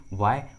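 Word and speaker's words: why: के बाद आया है, इस ट्रिक के अनुसार एच का उच्चारण नहीं किया गया है। देखिए इंग्लिश वर्ड्स में एच का आवाज़ नहीं आ रहा है, what, when, व्हाई, where, because in those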